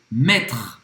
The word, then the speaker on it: mettre: Mettre. Mettre. Colocar. Colocar. Então, mettre, tá? Não vai pronunciar novamente esse E no final. Então, esse R é bem gutural.